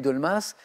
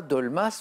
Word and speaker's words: dolmas: enchaîné avec le risotto qu'est-ce que c'est et dolmas quelle spécialité Turco grec désignée par un mot